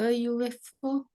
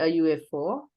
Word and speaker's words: UFO: A UFO. Why a UFO? And The UFO. yes, correct. A UFO. It starts with U, no? U is a vowel name. Sound is U.